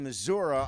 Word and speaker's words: Missouri: It's the coolest because it's the only one here that has a flag from the state of Missouri on the front because it's Shaman's Harvest.